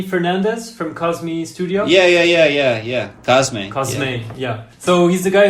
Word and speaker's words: Cosme: Cosme.